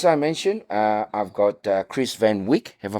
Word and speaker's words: Van Wijk: As I mentioned, I've got Chris van Wijk. Have I pronounced that correctly? Van Wijk. Vague.